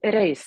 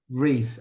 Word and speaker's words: Røise: is, how do you pronounce your surname? Reis. That's the Norwegian part. Uh, Yeah, how do you say that again? Røise. Reese.